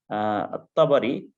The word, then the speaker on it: الطبري: الطبري، الطبري. طيب على فكرة ال سواء كانت لام الشمسية أو القمرية في الرومنة تكتب AL. فالطبري لاحظوا طاء، الطبري طاء هو حرف شمسية، ولكن فلا تنطق، ولكن تكتب حسب النظام الرومنة.